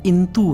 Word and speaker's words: इंतु: दूसरी बात कि इनने यह भी लिख दिया कि अब इसका शुद्ध उच्चारण इंतु है।